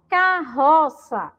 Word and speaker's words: carroça: Eu coloco outra letra R junto. E aí, quando eu pronuncio, ó, carroça, ele já não tem mais o som vibrante. Ele tem agora, ó, um som forte, tá bom?